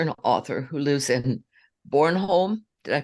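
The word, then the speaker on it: Bornholm: Duncan an astrologer and author who lives in Born home did I pronounce that right Adrian yeah actually perfect okay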